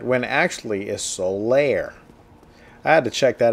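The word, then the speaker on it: Solaire: read and heard speak about it myself would pronounce it Soul te right when actually is Solair I had to check that out on the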